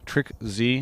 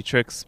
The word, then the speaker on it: TrickZ: here at the clg house joined by uh trick z am i pronouncing it right it's actually tricks but you can say uh you know however